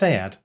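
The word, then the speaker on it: Sead: And his first name is actually pronounced Sayad.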